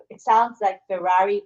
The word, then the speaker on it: MY4RE: So it sounds like Ferrari, but it's spelled MY4RE, which is a very cool hashtag, cool branding.